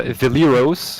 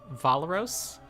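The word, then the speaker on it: Valeros: so we have uh villaros who's like the Pathfinder Society iconic fighter I think scaled up to level seven I think he's officially pronounced valaros is I know you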